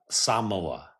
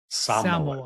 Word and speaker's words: Samoa: They pronounce it Samoa. Samoa more of like an emphasis on the first syllable.